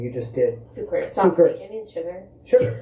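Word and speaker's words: Cukurs: I don't want to try to pronounce his name. You just did. Sucre.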